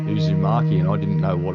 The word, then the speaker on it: Uzumaki: going to be releasing uh I can never pronounce it Uzumaki Uzumaki there we go Uzumaki never heard of it